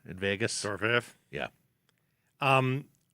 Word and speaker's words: Dorofeyev: Dorofeyev.